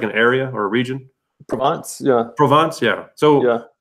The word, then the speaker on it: Provence: heard of, like, I don't think I can pronounce this word at all, but it's a place in France. It's called Provençal or something like that. It's like an area or a region. Provence, yeah.